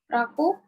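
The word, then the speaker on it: 楽: Apa nih dibacanya? Raku.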